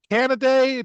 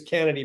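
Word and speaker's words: Canady: to multimillionaire pitcher Najari Canaday. Did I say it right? I think it's Kennedy, but yeah, All right.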